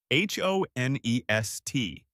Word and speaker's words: honest: H O N E S T. The H is silent.